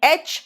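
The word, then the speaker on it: aitch: और host and house, ह का प्रोनाउंसिएशन आता है जब उसके वर्ड बनते हैं, इसलिए इसको हेच नहीं, ये एच है, एच।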